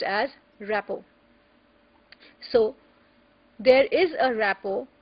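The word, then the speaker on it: rapport: more precise is called rapo it is written as r a p p o r t but the t is silent it is pronounced as rppo so there is a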